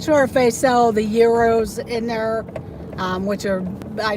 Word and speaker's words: gyros: Euro is proper pronunciation.